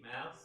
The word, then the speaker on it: MAUS: I'm sure it's not pronounced that way, is it? No, so it is indeed mouse. Oh, is it? Okay, it's MAUS. Okay, so I got that right.